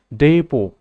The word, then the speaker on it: depot: word number 5 word it is pronounced depot it is also this silent last letter is not pronounced depot it is used